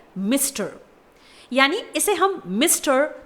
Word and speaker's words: Mr.: MR डॉट यहाँ पर एक एब्रीविएटेड टर्म है, इसे प्रोनाउंस किया जाता है मिस्टर, यानी इसे हम मिस्टर